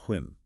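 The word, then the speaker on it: 婚: The essay gives us the character for a marriage, pronounced Hun.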